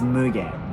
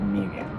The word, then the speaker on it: Mugen: just letting you know it's Mugen not me again alright and this is